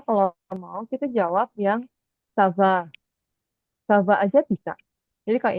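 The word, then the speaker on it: ça va: Sava Wi Sava eh zava Wi zava em bukan Za sa sa eh sav sa c c ya jadi C ini ee ada ekornya supaya c-nya kebaca S Sava zava zaava sa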